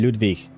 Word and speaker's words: Ludvig: He's supposed to be pronounced Ludvig, right? I think Dan mentioned that uh last time. Well, at some point last week, but uh I think yeah, it's supposed to be Ludvik.